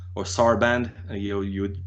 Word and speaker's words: Sarband: like so it's a French ensemble called Ensemble Sarban or Sarband, you would pronounce it.